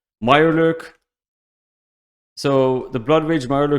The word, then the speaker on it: Mirelurk: you guys about like i didn't pronounce it correctly before meyer lurk so the blood rage